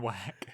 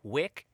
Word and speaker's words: Wick: What rhymes with Wick? It's a food. That's a food. And it's John Wine, and it's a winery. It's bad. It's so fucking terrible. That changes the I sound.